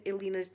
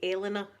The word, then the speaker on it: Elena: I've been saying Elena's name wrong all this time. Because in Scotland, the way it's spelled, we say Elena. But she's from beautiful Ireland. She's called Elena.